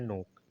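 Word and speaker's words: knock: यहां भी के साइलेंट तो यहां हो गया नाइफ और यहां हो गया नोक।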